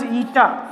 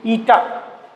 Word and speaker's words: eta: Practical SI unit, many times practical SI unit of coefficient of viscosity, this is pronounced as eta, E-T-T-A, eta.